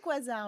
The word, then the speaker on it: quasar: Vous Oui, prononcez on dit quasar, oui, exactement.